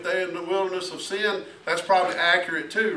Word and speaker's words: Sin: of Egypt now those the reason that many say is pronounced sign is because it's the Wilderness of sign on the way to Sinai right to Mount Sinai